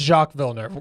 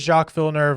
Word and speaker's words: Jacques Villeneuve: I believe it's Jacques Villeneuve. Yeah. Crofty says Jacques Villeneuve, and Crofty is king.